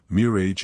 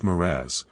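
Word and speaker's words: mirage: for valency to give it up he added mirror age and marriage m-i-r-a-g-e is pronounced moraz said valency shortly picking up her tea and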